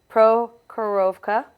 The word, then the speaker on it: Prokhorovka: Like you said, next map is Prokhorovka.